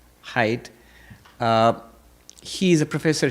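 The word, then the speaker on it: Haidt: Professor Jonathan height I don't know how you pronounce it. H ai dt height.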